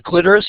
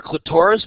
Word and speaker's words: clitoris: the vestibule for lubrication the clitoris or clitoris both pronunciations are correct is a rectal tissue